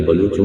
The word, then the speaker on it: بلوچ: بلوچستان کہا گیا ہے لفظ بلوچ کا تلفظ وعملہ مختلف کیا جاتا ہے لیکن بلوچوں میں اس کا ایک ہی تلفظ مستعمل ہے یعنی بلوچ بے مفتو، لام، مسمہ، مجہولہ اور جین، مغقوف لیکن جدید فارسی میں